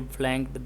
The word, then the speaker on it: flunk: Every day everybody failed, everybody flanked the test. Everybody what? Flanked. It is spelled FLUNK. The U sound like the U in hurt, but and cut, and flank means to fail, I suppose.